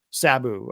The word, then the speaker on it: Sabu: What is the correct way to pronounce his name? Sabu.